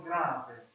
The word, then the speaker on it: grave: And you call that one grave. You spell it like this. That's a G. Spell like grave. So that's literally like grave, like the dead.